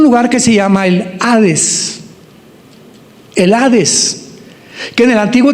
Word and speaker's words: Hades: Se tradujo la palabra seol con hades, con h, que muchos dicen jades. Se puede pronunciar así porque es en el griego.